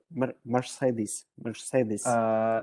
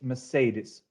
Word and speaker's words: Mercedes: Ну, смотрите, если вот прям совсем как британцы, да, произносят, то там R все-таки достаточно глухая, и вот во втором слоге у них там не совсем звук а он такой как a, то есть Mercedes. Ну, это уж прям вот если совсем академично. Можно выделить R, это будет больше американское произношение, тогда можно сказать Mercedes, но вот правильно Mercedes.